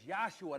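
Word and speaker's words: Jeshua: His name is Yosua. That's how you pronounce that.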